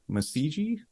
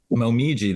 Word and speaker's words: Momiji: Was it Masiji? Momiji, that's Momiji. Yeah, that's Momiji, yeah. Yeah. Sorry. Okay, so that's just the actual Japanese pronunciation for it.